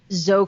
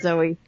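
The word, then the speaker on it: Zoë: Her name is Zoe Kravitz, not Zoe. Really? It's just Zoe? Yeah, it's Zoe.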